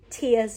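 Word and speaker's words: Tea: I had jobs to do around town today, so I didn't have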